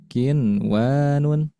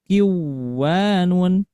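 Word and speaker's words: قنوان: Nah, ada nun mati menghadapi huruf wau. Nah, pada satu kalimat maka tidak dibaca kiwanun. tetapi dijelaskan nun e nun sukunnya atau diizharkan jelas ya. Nah, jadi dibacanya kinwanun kinwanun.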